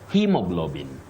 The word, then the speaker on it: hemoglobin: representing one sound Betty so you say he with a long high front sound e hemoglobin hemoglobin but this one